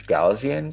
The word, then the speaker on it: Gaussian: used to use i just learned how to pronounce this it's gaussian blur yeah yeah yeah yeah but then there's